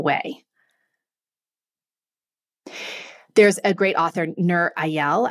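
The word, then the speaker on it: Nir Eyal: there's a great author Nur ayal I think is how you I don't know if that probably totally butchered his name n-i-r-e-y-a-l but he's written a couple great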